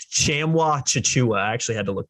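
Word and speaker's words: Tchamwa Tchatchoua: I got to pronounce it. I actually looked this one up on Google. It's Chamwa Chichua.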